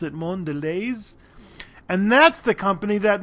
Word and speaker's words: Mondelez: It looks French. It looks Mondelez, but they pronounce it Mondelez.